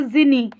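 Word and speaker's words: djinn: आई एन एन ई यहां पे जो आपका डी वर्ड है वो साइलेंट है इसे पढ़ेंगे जिनी क्या पढ़ेंगे जिनी नेक्स्ट वर्ड है आपका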